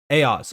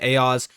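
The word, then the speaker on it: AIOZ: on the list is AOS or you know AI Oz Network however you guys want to pronounce it I usually pronounce it AOS um but I have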